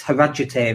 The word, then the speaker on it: Harrogate: And it's not Harrogate, it's Harajate, that's how they pronounce it.